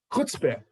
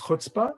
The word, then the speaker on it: chutzpah: Chutzpah, often pronounced as chutzpah.